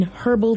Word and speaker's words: herbal: have been soaked in herbal tea fael I don't know guess body WP or a herbal rap I like you pronounce the h in that word instead of herbal it's herbal I've never heard that